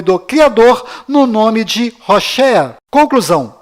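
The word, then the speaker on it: הוֹשֵׁעַ: Mas a pronúncia correta de Oséias é Hoshea.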